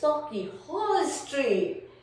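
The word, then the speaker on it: Sauchiehall Street: And they said, oh hen, it's Sochi Hall Street. And I said, no, it's spelled as this.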